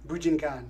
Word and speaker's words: Bujinkan: Bujinkan.